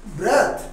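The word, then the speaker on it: breathe: শ্বাস-প্রশ্বাস গ্রহণ বর্জন example I took a deep ব্রেথ ব্রিথ নয় বারবার বলি ব্রেথ নেক্সট দেখো ব্রিথ এইটার উচ্চারণটা ব্রিথ ভার্ব হিসেবে এটা সেন্টেন্সে কাজ করে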